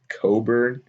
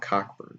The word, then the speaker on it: Cockburn: oregon state we're going to take akron it's pronounced coburn oh yeah you're right it's not cockburn okay that i guess that would make sense